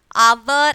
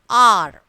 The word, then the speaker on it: our: Hour is the wrong pronunciation. Okay. Don't say hour. R. Okay. R is the correct pronunciation.